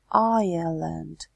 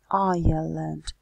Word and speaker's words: Ireland: And pay attention to the pronunciation of the words. Island. Island. Остров and Ireland, Ireland, Ирландия.